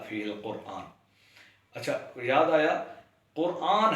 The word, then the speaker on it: قرآن: القرآن۔ اچھا، یاد آیا، قرآن ہے درست تلفظ، لوگ اس کو بھی قرآن پڑھ رہے ہوتے ہیں، یعنی قاف رے کے بعد الف اور نون، جبکہ درست تلفظ ہے قرآن، الف نہیں ہے، الف کی جگہ الف مد آ ہے۔ ایسے ہی اجمی، اجم